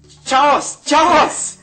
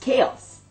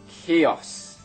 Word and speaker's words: chaos: together and you get ch ch no it's pronounced chaos K chaos correct now let's get